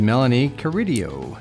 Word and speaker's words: Melonie Carideo: And today our guest is Melanie Curidio. Yay. Did I pronounce that right?